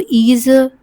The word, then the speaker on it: 椅子: Remember, 子 (zi) at the end is usually pronounced with the neutral tone. So, 椅子 → picture 6.